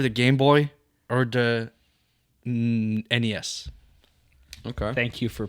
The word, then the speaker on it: NES: the ones that I want and that I would prefer is either the Game Boy or the NES. Okay. Thank you for pronouncing it properly.